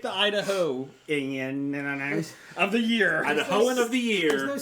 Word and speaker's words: Idahoan: That was from Idahonian? spell check. Idahoan.